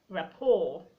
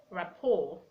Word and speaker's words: rapport: like beret beret a we have words like rapport rapport that C is silent in those rights you didn't have to